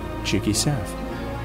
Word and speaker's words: Jikkysef: to support a creator j-i-k-k-y-s-e-f that spells cheeky seth that's how you pronounce my name boom thanks for watching